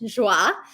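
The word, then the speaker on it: Joie: account which is called she loves Joy but it's spelled French joah um and that is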